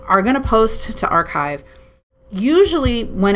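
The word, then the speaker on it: arXiv: funny a RX IV it's pronounced archive and then this is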